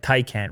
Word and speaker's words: Taycan: Taycan, Will. We got one of these on the way, so I better get the pronunciation right.